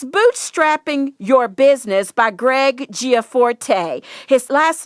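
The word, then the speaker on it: Gianforte: as well it's bootstrapping your business by greg giaforte his last name is spelled g-i-a-n-f-o-r-t-e start and grow a successful business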